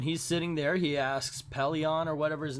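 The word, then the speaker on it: Pellaeon: office and so Captain I actually think his name is pylon I said it wrong it's Pele and I I guess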